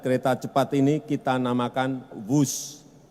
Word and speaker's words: Whoosh: operasi optimal sistem hebat sekali lagi w h o o shh tapi membacanya wus kereta cepat Jakarta Bandung